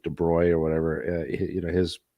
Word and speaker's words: de Broglie: the the you know de broy uh de broglie um yeah it's actually pronounced I think de bruy or whatever you know